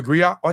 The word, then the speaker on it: griot: unique to Western a West West Africa the gri or jali is a professional Encompass many R the gri pronounced Grio has been refused as a historian